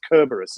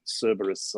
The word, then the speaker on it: Kerberos: to death here but it's kerberos isn't it not cerberus i believe kerberos the triple i just